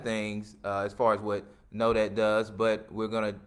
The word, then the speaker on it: Nodat: From Know That. Did I pronounce that right? Yeah, you know how you say, hey, did you know that? Know That.